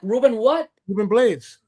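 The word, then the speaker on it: Rubén Blades: Ruben Blades.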